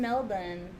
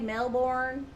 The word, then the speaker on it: Melbourne: Melbourne. So They tell you, okay, this is how you say it. I was like, we're going to Brisbane, Adelaide, Melbourne. And they were like, it's Melbourne.